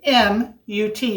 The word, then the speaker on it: kamut: that it calls for is kamut it's k k-a-m-u-t but it's pronounced kamut and this is a very ancient